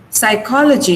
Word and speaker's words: psychology: Now this is psychology. In psychology, we have 4 syllables. Logy itself has 2 syllables. But then we mark stress on the syllable that comes before L-O-G-Y.